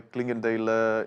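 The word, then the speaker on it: Clingendael: And now we're back to our studio and our patiently waiting guest here, Frans-Paul from the Klingendale Institute. Am I pronouncing it correctly?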